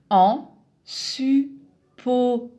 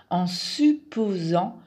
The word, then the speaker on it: en supposant: un connecteur de suppositions la prononciation simplifiée en supposant encore le son z ici pour le la lettre s en supposant que en supposant que